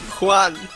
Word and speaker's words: Juan: It's not Juan, it's Juan. Juan.